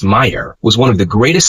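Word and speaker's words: Mayr: Ernst Mayer pronounced Mayer was one of the greatest scientists who ever lived.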